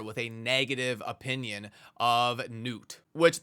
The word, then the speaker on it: Gnut: a negative opinion of Newt, which that's going to be the pronunciation that I go for in this video. I'm just going to call him Newt, and I hope that